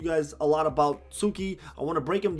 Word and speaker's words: Tsuki: is a male character the tee I'm pretty sure is silent so you call him Sookie and he's actually really